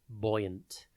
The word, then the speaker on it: buoyant: Today's word is buoyant. It is pronounced boy-unt, and it is spelt B-U-O-Y-A-N-T.